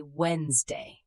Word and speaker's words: Wednesday: We say Wednesday. The D is silent.